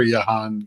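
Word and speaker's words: Jahan: commanders why are they not feeding Jan or yahan as Bill likes to say Dawson I prefer yahan I feel like that's the only way to only way to pronounce that um that's a great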